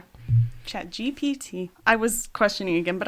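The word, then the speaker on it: ChatGPT: And I thought at the moment, by the way, it's chat GPT. I've been saying it wrong this whole time. Chat GPT. GPT. Good to know. G. That's alphabetical order. It's alphabetical order. Oh, alphabetical order would be GPT.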